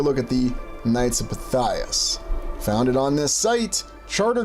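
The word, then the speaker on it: Pythias: Or is it Knights of Pytheus? No, no, it's Knights of Pias, but interesting also considering pronunciations.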